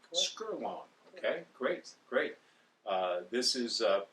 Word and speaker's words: Skerlong: Am I pronouncing that right, Herman? Correct. Skerlong.